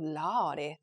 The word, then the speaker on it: lordy: like the r sound when we spell that word on paper it's l-o-r-d-y but when she pronounced it it was like l-a-w d-y that was that was the way she made an O and an R sound right too so it